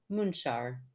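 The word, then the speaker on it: Munxar: she goes pron moonar spelled m NX a r I always like to put the spelling in there because that just blows my mind that mu n x a r would be pronounced munar at St Thomas Bay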